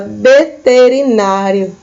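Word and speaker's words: veterinario: A letra V em espanhol se pronuncia com o som de B. Então, a gente fala veterinário, certo?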